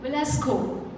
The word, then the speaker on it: Velasco: Now, I would like to call on stage uh the founder, the digital creator, Genesis, Velasco. Velasco. Did I pronounce it correct?